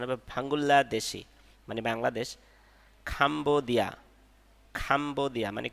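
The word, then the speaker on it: 방글라데시: এর পরে রিয়েল আসলে ললা উচ্চারণ হবে এজন্য উচ্চারণ হবে ভাঙ্গুল্লা দেশি মানে বাংলাদেশ খাম্বোদিয়া খাম্বোদিয়া মানে কম্বোডিয়া নেপাল মানে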